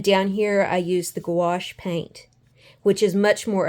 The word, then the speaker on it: gouache: I ended up doing was taking watercolor and gouache I think that's how you say it it's spelled g u a c h e the